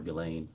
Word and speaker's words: Ghislaine: As best as we know, it's been publicly reported that in 2024, Ghislaine Maxwell, or Ghislaine, I think is how it's pronounced, arranged and wired $1 million to Publicist